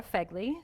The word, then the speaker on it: Fegley: I brought a therapist, Nick Brave, and I brought a non-therapist, Laura Fegley. Did I pronounce that correctly?